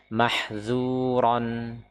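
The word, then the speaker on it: محذورا: Bedakan antara dzal dengan d. Dal d makhrajnya sama. Makhrajnya sama. Perbedaan ada pada sifat. Huruf dalal maka dia istifal. Sedangkan huruf d isti'la. Huruf dzal dia ya ee apa namanya? Dia diucapkan dengan infitah. Dengan infitah. Sedangkan huruf dicapkan dengan itbaq, yaitu apa? Terkurungnya suara ya, sehingga tebal.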